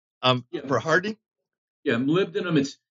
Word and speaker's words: molybdenum: Do you ever use molybdenum for hardening? Yeah, molybdenum.